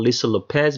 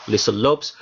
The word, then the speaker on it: Lopes: for the video called Lisa Lopez video. I don't know if it's pronounced Lisa Lopez or Lisa Lopes, but it's spelled L-O-P-E-S, in which we go